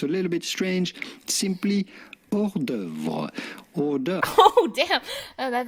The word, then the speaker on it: hors d'oeuvre: Simply hors d'oeuvre. Hors d'oeuvre. Oh damn! That did not sound like the U.S.